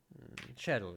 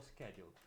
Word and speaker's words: schedule: uh um uh Shadle shedule shedule or schedule I don't remember exactly maybe shedule is the American version and schedule is the British version presentation okay F no